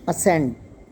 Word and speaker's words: ascend: Science, when S and C both come together, then mostly C is silent. Science, ascend, and scissors. So in these three words, C is always silent.